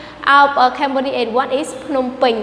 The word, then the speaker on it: Phnom Penh: And what is Phnom Penh? Right? So Phnom Penh is the capital city of Cambodia, not Phnom Penh. Because in Cambodia we don't have any name of Phnom Penh, we have only Phnom Penh, right?